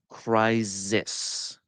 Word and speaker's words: crisis: By overcompensating and turning it into a Z sound. That's wrong. Crisis.